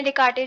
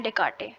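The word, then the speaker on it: Descartes: तो भी इनको पढ़ेंगे, रेने डेकार्टे, ठीक है, बस आई थिंक इसमें साइलेंट होता है।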